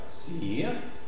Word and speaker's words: cire: Cire. Analyse. Tige. Yves. Ivre. D'accord? Dans ce cas, prononciation légèrement allongée dans une position tonique et devant les consonnes R, Z, V, R.